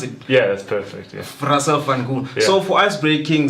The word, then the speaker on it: Russell Van Gool: Did I pronounce it? Yeah, that's perfect. Yeah. Russell Van Gool.